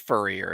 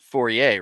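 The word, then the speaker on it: Fourier: usually work with but it's not pronounced Furrier it's forier right forier Transformers I don't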